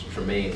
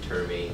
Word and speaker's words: Tremaine: was as a kid, my first name was always hard to pronounce. It's Tremaine, but like a lot of people be messing it up, calling me like Termaine, Truman, messing it up.